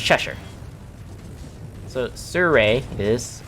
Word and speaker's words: Cheshire: So like the Cheshire right there is actually Cheshire, not Cheshire, even though intuitively the way the name is pronounced looks like it should be named or pronounced Cheshire, but it's Cheshire.